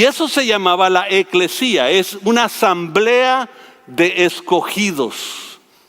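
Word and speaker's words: ekklesia: nosotros pensamos como iglesia la palabra en griego es eclesia eclesia con el acento en la y eclesia eclesia es una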